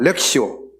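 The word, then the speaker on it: lectio: 렉시오 렉시오.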